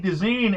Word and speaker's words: Deezen: We have actor Eddie Deezen. Eddie, welcome to the show. Great talking to you, Dennis. It's Deezen, by the way, pronounced Deezen, but thank you.